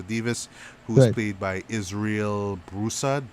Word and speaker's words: Broussard: who headed by israel broussard bro son I believe that's how you pronounce his name yeah and of course